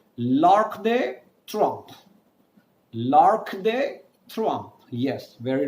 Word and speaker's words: L'Arc de Triomphe: You can simply join all of them and say L'Arc de Triomphe.